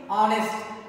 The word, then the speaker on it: honest: Vowel sound means honest. Here H is silent.